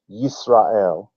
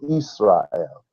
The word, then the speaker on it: Yisrael: Because to pronounce it properly, it's Yisrael, or you may drop the Y sound and say Israel.